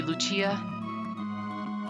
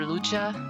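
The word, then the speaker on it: Lucca: pronounces this dunno sorry i've always pronounced it luca but two c's if you're borrowing from italian would be lucia or lucha you'll hear me interchangeable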